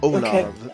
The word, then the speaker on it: Ollamh: Nope, it's spelled OLLAMH. Okay. Yes. Productions. Olav for the word for a healing man and his companions.